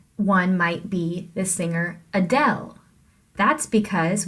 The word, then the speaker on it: Adele: singer Adele that's because we have an unstressed syllable first uh and then del is the stressed syllable if you were talking about the singer Adele you couldn't say Adele you have to say Adele so the little up of Adele is much less stressed than the del portion of that name so hopefully this is